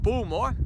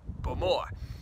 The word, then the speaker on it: Bowmore: A lot of people in Scotland and other parts of the world call it Bowmore, in fact I used to as well, but the Ilichs, the locals to Islay, have corrected me and made sure that I pronounce it correctly, which is Bowmore.